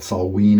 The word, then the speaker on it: Samhain: think about it Samhain spell this the way it's spelled salt ween I believe is the actual pronunciation of the word in Gaelic and it was a